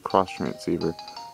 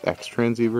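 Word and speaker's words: Xtransceiver: going don't forget your cross transceiver now when I when I first got I always pronounce this X transer and I totally realized it was cross so yeah all right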